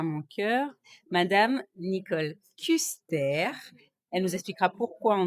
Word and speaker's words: Kuster: Eh bien, je suis alsacienne et c'est pour ça qu'il faut dire Custer, puisque ça doit se prononcer comme ça s'écrit, tout bonnement.